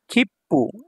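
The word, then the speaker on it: きっぷ: আছে এই তারপর দেখেন খিপ্পু এই যে খি হচ্ছে এটা একটা পরিপূর্ণ বর্ণ সু ছোট করে দেওয়া আছে তাহলে পরের বর্ণটা দুইবার উচ্চারণ পরের বর্ণটা হচ্ছে পু তাহলে কি হলো খিপ্পু খিপ্পু মানে হচ্ছে টিকেট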